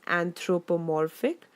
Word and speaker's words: anthropomorphic: I have used here is anthropomorphic notice the pronunciation guys it's anthropomorphic and your next homework is that you have